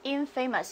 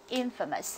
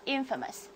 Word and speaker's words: infamous: 家要注意不能读作 infamous，我们要读作 infamous。好，这个词大家来跟我读 infamous infamous，或者你用后面这